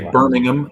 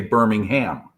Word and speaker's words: Birmingham: you say you say Birmingham and we say Birmingham so we pronounce that H in there when I noticed that